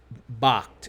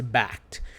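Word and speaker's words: Bakkt: some people corrected me it's not Bakht it's backed but it's spelled be a KKT and you have two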